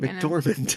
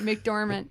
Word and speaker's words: McDormand: McDormand. McDormand, and say it wrong.